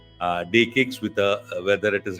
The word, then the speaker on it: DE-CIX: so it's called Uh day kcks with a whether it is written like C but pronounced with the K so it is the